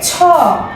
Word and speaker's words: ছ: এর পরের বর্ণটি হচ্ছে ছ ছ এর মধ্যে বাতাস সহকারে আমরা উচ্চারণ করব লিখার সময় অবশ্যই পূর্ণমাত্রা